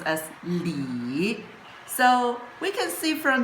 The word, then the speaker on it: 里: And it pronounced as Lee.